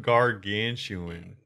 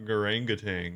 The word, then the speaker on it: gargantuan: made this so embarrassing how do you say it again gargantuan why is it spelled like that because it's not garanga tang goringa tang what's the monkey it's